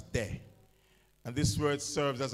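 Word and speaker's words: δέ: The Greek word for the word no is pronounced as de.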